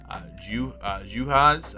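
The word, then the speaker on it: Juhász: The Lynx this year, Dorka Juhas, I believe is how you say that, and Julie Allenmond.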